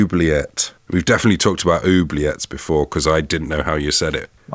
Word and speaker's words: oubliette: We've definitely talked about oubliettes before, because I didn't know how you said it. I think it's oubliette, with the stress on the final syllable.